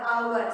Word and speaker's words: hour: So in this word also you have to pronounce like hour. Okay. Not how. our.